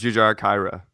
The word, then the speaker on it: Jujhar Khaira: You're probably saying that wrong. Jujhar Khaira? Jujar. Jujhar. I'm gonna butcher it too. I don't know how to say it, dude. Again, not saying that Jujar is a Hindu, but I grew up in a Hindustani household and never learned any of it. So, anyways, how do you say the name? Jujar Kara? How do you say it? I think it's I thought it was Jujhar Khaira.